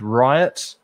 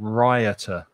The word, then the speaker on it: riot: is the card riot be careful of the pronunciation right riot riot and rioter rioter rioter yeah it has a sound in it that isn't there in the letter is it for yes and we say yet riot riot riot okay